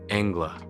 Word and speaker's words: anglais: The Canadian French, of course, called the first settlers of New England l'anglais, be English, pronounced Angla, which with the Indians might easily slide into Yanka or Yankee, the French-sounding E as we do A. The authority adduced by Webster, Mr.